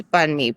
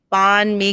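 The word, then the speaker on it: bánh mì: They would say bon me because it's spelled b a n h and there's a silent h. Okay. and it would be like this bon me and like and I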